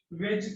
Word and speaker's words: wedge: First वेज formula जो आपको दिया होगा WEDGE, डी इसमें साइलेंट होता है.